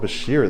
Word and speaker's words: Bichir: Wow, I guess we've been pronouncing it wrong. It's easier. Should we say Bashir now? I think I'm gonna start saying Bashir now.